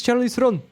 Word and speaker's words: Charlize Theron: Hello, is this Charlize Theron? That's how you pronounce her We're name.